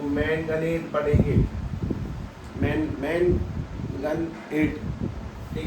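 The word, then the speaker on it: manganate: क्या पढ़ोगे क्रोमियम को क्लोमेट पढ़ते हैं मैग्नीशियम मैगनेट पढ़ेंगे मतलब एक minute मैगनेट spelling M ए एन जी ए एन ए एस होती है ना तो मैनगनेट पढ़ेंगे मैन गन एट ठीक है तो इसको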